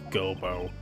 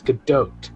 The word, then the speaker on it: Godot: Well then, Prosecutor Gobo. Oh, see, pronunciation Not for Gobo. you. It's Godot.